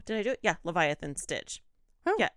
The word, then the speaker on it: Leviathan: me Leviathan oh did I do it yeah Leviathan Stitch yeah l-e-v-i-a-t-h-a-n Leviathan yeah why did I say it like